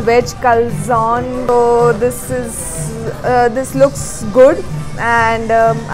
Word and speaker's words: calzone: Okay, so basically this is pronounced as calzone, and this is the Italian based folded pizza, oven baked pizza.